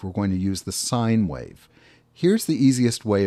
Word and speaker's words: sin: of those computer things we drop the silent e so sin is pronounced sine and i'm multiplying t